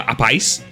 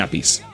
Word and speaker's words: Appice: responsable a Rod Stewart, que popularizó la forma de decir el apellido de su batería como Appice, y la confusión vino cuando Vinnie entró en Black Sabbath y dijo que realmente, como debía pronunciarse, era así, Vinnie Appice o Vinnie Appice.